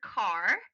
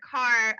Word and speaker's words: Qar: Carr.